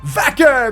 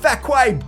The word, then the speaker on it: Vaquer: up and angry, saying, "My name is pronounced Vaquer, not Vacque, bitch."